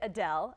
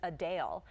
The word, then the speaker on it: Adele: While many pronounce it Adele, as we always have, the singer actually says it's Adele.